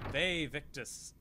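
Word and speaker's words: Vae victis: It's Ve Victus. Although if you want to be proper, it would be pronounced with a W, because that's how the V was pronounced. Ve Victus.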